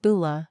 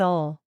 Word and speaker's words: Ole: It's pronounced Bula, not Ole.